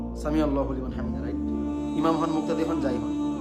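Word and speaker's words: سمع الله لمن حمده: হামিদা আস্তে আস্তে বললেও সামি আল্লাহু লিমান হামিদা আস্তে আস্তে আওয়াজ করে পড়বেন সামি আল্লাহু লিমান হামিদা আইনটা এটা জেনে রাখবেন আইন উচ্চারণ করছেন আপনি আইন একটু শক্ত করে সামি আল্লাহু লিমান হামিদা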